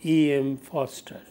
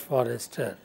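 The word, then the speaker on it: Forster: Ford MX Ford and EM Foster spellings are f r s t e r but it is pronounced Foster not Forester so e m Foster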